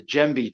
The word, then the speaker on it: djembe: I have the djembe drum from West Africa.